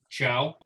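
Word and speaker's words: Thiaw: of them being malik ciao which is ironic because he came to the italian league his last name is spelled t-h-i-a-w but it's pronounced like hello goodbye in italian ciao so i can't wait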